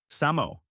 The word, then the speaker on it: SAMO: and a new alias, Samo, pronounced Samo and short for same old.